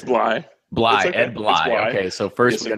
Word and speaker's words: Bley: Bllye.